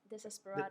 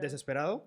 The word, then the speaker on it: Desesperado: So again, with the song that has like a few Latin lyrics, is how you say the name again? That's Desesperado. Desesperado. Desesperado. there you go. Oh, There you that's- go. Oh, okay.